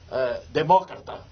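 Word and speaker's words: democrata: Eu sou um verdadeiro demócrata. Eu disse: o quê? Demócrata. Demócrata? É a pronúncia correta.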